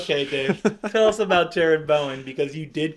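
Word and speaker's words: Jarrod Bowen: Is it Jared Bowen? Gerard Bowen? Yes. That's not how you say it. I know. Just trying to have fun. Just trying to have fun. His name's Jared and not Gerard.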